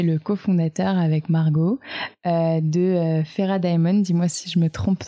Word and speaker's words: Fera Daemon: Du coup, je t'interroge parce que tu es le cofondateur avec Margot de Fera Diamond. Dis-moi si je me trompe dans la prononciation.